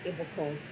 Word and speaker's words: Ibukun: start introducing myself um my first name is ibakone and an easy way to pronounce it the French go Messi Goku puts